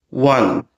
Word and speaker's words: one: One.